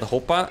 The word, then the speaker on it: hoppa: with the game but i just said hopa and for for some reason you guys always ask me what the hell hoppa means it's spelled h-o-p-p-a and it's just something dutch people say when you like manage to do something or something like that you know